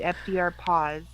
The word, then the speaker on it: FDRPAS: r p a s that's not even pronounceable i they call it fdr paws my unit just pronounce